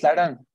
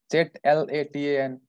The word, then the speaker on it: Zlatan: Can you pronounce Slatan? What's that? Slatan. How do you spell it? Z-L-A-T-A-N, Slatan.